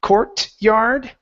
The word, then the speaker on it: courtyard: cour yard Courtyard okay so when I when I say this word this this T becomes more of a um almost um uh almost a CH sound or even even very similar to what would be like a uh Portuguese T sound where it's ch